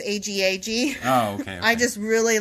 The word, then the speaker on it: Agag: No, because that's spelled A-G-O-G and this is A-G-A-G.